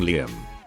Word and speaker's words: Liam: doesn't sound so bad until you hear the pronunciation yum like will yum they called their child